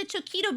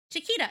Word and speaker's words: Chiquita: Just like the Choquito banana.